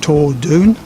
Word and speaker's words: Torr Dhuin: reliably informed is pronounced Torr Dhuin, from the historic Gaelic that was the language of Scotland many years ago.